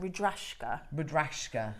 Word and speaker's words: Rudraksha: Rudrashka, yes.